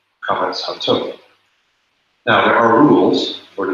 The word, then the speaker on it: Qames-Hatuph: This is the long A, This is the short O, pronounced A, Qames-Hatuph.